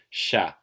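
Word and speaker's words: siya: And it's often pronounced the same as it is in Tagalog. So Tagalog is always sha. But sometimes Iloilo natives will pronounce it as sa.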